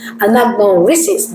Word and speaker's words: anagnorisis: Anagnorisis. Uh anagnorisis. Anagnorisis, there you go.